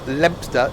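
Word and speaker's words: Leominster: We are 3 miles from Lempster. Don't pronounce it wrong, because the locals get angry.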